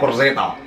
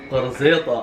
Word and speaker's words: قرزيطة: Say قرصيطة. قرصيطة.